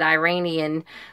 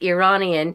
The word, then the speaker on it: Iranian: a Iranian girl, and I apologize if I said Iranian last time. It is Iranian or Iran, because she even says it in the book that's how you pronounce it.